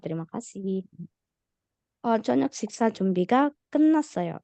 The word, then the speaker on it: 끝났어요: 저녁 식사 준비가 끝났어요. Nah, ini tadi bacanya 끝났어요. Tiet yang ini kalau di depannya ada nian, dia juga dibaca jadi nian. Jadi bukan 끝났어요 tapi 끝났어요.